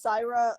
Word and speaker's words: Saira: And mine's Saira, like Sarah with a thick Southern accent.